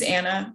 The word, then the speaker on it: Anna: so my name is anna and i'm going to teach you how to remember it so the first thing i'm going to say is my first name rhymes with banana so i want you